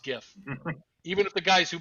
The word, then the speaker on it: GIF: invented the the gif said that it's pronounced jif but it this video explains why it should not be pronounced gf it should be pronounced gif even if the guys